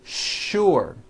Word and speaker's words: sure: are written with the letter S but are pronounced with the SH sound words like sugar and sure and to make things even more difficult there